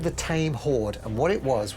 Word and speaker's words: Thame: years it's called the tame horde and what it was was a guy the tame horde how do you spell that as in the river thames no the tame horde